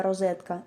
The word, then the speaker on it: розетка: правил української літературної вимови ненаголошений звук о в більшості випадків звучить виразно і вимовляється як о в тому числі у слові Розетка по-друге ненаголошений звук о